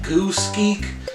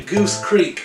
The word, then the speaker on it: Goose Creek: I've been calling this thing like Goose Geek, but it's actually Goose Creek, I'm pretty sure.